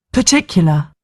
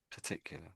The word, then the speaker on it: particular: particular sound so we're not really saying an R and we're not sort of saying an E maybe an A I should say. So it makes a particular a particular sound. So I'm being funny really. It makes a very certain sound sort of thing. Um and it's this sort of uh uh sound I would I would suggest.